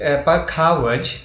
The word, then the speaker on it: Pakhawaj: Because of the instrument, Pakhawaj. Did I pronounce it correct? It's Pakhawaj.